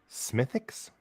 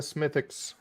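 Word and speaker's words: Smithwick's: usually it involves this smithix don't pronounce the w we're gonna go down to the pub and have a smithix all right that's that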